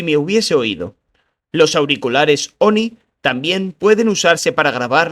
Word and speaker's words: ONI: Lo pronunció ONI.